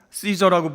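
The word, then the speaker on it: Caesar: 여기 가이사로 번역된 카이사르는 여러분 잘 아시겠지만 로마 황제를 가르치는 그런 말입니다. 원래 영어식 발음으로 시저라고 부르는 윌리우스 카이사르 장군의 이름이에요.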